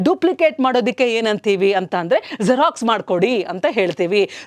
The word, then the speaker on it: Xerox: ಸೊ ಹೌ ಡು you pronounce ಜೆರಾಕ್ಸ್ ಅಂತಂದರೆ ಝ sound use ಮಾಡಿ. ಝ for example zebra, ಝೀರೋ, ಝೂ. ಸೊ ಹಾಗಾಗಿ you have to pronounce it ಆಸ್ ಜೆರಾಕ್ಸ್, ನಾಟ್ Xerox.